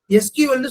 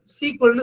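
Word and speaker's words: SQL: இனிமே நீங்க வந்து யாரு கேட்டாலும் எஸ்கியூஎல்னு சொல்லக்கூடாது, சீக்வல்னு சொல்லணும். எஸ்கியூஎல் அப்படின்றது சீக்வல்ன்றதை தான் நம்ம ஜெனரலாவே ப்ரொனவுன்ஸ் பண்ணுவோம்.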